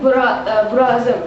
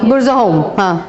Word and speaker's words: Burzahom: Like a place, I cannot pronounce it nicely, Burazim. There Burzahom.